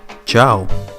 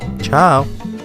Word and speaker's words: ciao: The most common and informal is ciao, ciao, which means bye, and it is pronounced alike ciao in English or Italian.